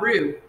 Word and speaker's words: roux: Fontaine here, and today we're going to start learning about roux. So roux is spelled R-O-U-X, and the reason we learn to